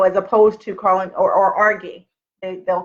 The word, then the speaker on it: Argie: And people, I told you, I still get mail that says, because my name sounds like Argie, or argue.